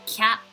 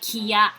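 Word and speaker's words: きゃ: K with a YA, you read it as kya, kyu, kyo, not kiya, kiyu, kyo.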